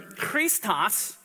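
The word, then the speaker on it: Χριστός: continue on Chris uh Christus or Christos in the Greek I mean this is how you would pronounce it and agree it's referring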